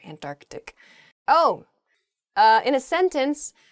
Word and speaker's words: Antarctic: south is the Antarctic there's sort of like almost a hiccup in the word there Antarctic oh uh in a